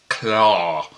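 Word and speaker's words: Klaue: Here, it's spelled K-L-A-U-E. Claw. Which, okay, it's more realistic. But who cares about realistic? Claw. I mean, it sounds exactly the same, so who cares?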